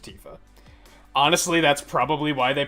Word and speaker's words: Tifa: If you would if you'd break Tifa down with Japanese characters, it would be pronounced Tifa.